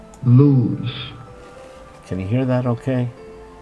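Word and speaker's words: לוז: 3869, it's pronounced Luz. Can you hear that okay? Luz.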